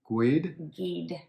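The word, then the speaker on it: Guede: guy named rudy and i pronounced his last name wrong it's like gwyd that's what i heard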